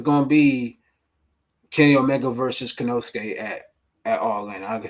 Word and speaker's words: Konosuke: You can say Konosuke. That's easy to pronounce. All right, Konosuke.